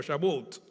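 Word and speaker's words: שבועות: Pero Pentecostés, el nombre original era, no me pidan hablar en hebreo, pero más o menos se pronuncia algo así, como Shavuot, que significa precisamente semanas.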